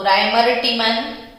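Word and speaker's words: Reimer-Tiemann: आज chemical reactions में हम सीखेंगे रीमर-टीमन। तो राइमर-टीमन और रीमर-टीमन जो भी आपको प्रोनाउंसिएशन पसंद आता है, तो राइमर-टीमन रिएक्शन।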